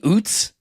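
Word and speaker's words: Ouzts: They have this guy in the preseason Robbie Uts and it's spelled O U Zts.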